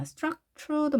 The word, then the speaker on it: structure: 자, structure도 마찬가지로 t가 취 발음이 났죠. structure, structure 이렇게 발음이 됐죠.